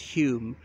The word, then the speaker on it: Home: Remember, it's Home pronounced Hume because Alec Douglas Hume's brother was a well-known playwright, and one of his plays was entitled Home pronounced Hume.